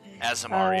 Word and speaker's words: Aasimar: I don't know how to pronounce my species name or my race name, but I'm a fallen Aasimar? I don't know. Aasimar, yeah.